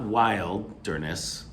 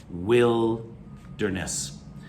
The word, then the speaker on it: wilderness: is the wilderness not wild dernis it's it's spelled w-i-l-d the wild area but it's pronounced will okay like i will study i will get an a will derness the wilderness is the